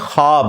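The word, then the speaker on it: خواب: नहीं आ सकता अच्छा यह लफ्ज लिखने में है ख्वाब ख वा अलिफ बा लेकिन पढ़ने में यह ख्वाब है वाओ साइलेंट हो जाता है ख्वाब पढ़ा जाता है यह लफ्ज़ उर्दू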